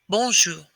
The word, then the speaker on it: bonjour: pronounce this word correctly b-o-n when we look at it we would say bon but remember we're going to apply our french pronunciation to it the o instead of coming straight out or straight down bow ba it's going to come at more of a 45 degree angle ball and the end will not be the